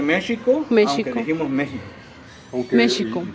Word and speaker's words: México: pronunciar de esa manera, como la palabra México es con J y la seguimos pronunciando como la escribimos. Bueno, la pronunciamos con J, la escribimos con X. Correcto. De hecho, se debe pronunciar México, aunque dijimos México.